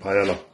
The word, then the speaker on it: paella: call it the bodybuilding paella. And she prepared this right here. Cooked this. So that's my post-workout meal. Is it paella? I think it's paella. Paella. Because that's how it's pronounced in Spanish.